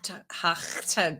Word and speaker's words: Tuah: No, but I'm going to tell you who that is absolutely backfiring for right now, and that's Hawk Tuah girl.